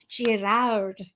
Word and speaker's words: Girouard: When you Google the pronunciation and you listen for the sound, it is a French pronunciation.